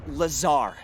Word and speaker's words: Lazar: blazer rangers this is laser blazer a researcher in our rnd department and its sales liaison it's lazar actually accent on the tsar but yes i'm your